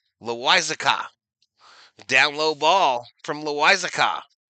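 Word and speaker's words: Loáisiga: It's pronounced Loiza, Loizaca.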